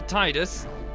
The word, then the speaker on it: Tidus: go there we go why is it teeters preferable to Titus well yeah it's tedious